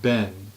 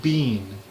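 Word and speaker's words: been: The word ben, B-E-E-N, like the past participle of the be verb. They pronounce it bean, like B-E-A-N, like the vegetable.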